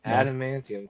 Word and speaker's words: adamantium: in my head you it's one syllable after that you just have to add a mantium to it so adamantium to it okay that that you